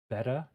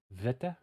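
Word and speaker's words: βήτα: So ancient pronunciation, beta, was said like beta or beta. Now it's said like V. So it's vita, vita, vita.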